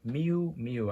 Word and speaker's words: Miu Miu: It is by the brand Miu Miu, I think is what it pronounced.